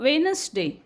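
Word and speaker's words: Wednesday: म्हणतील वेड नका वाचू सो D silent so वेनसडे वेनसडे वेनसडे डी is silent तसेच के मध्ये नो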